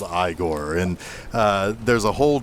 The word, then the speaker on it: Igor: he meets his his primary uh lab assistant eigor who uh on learning that he does not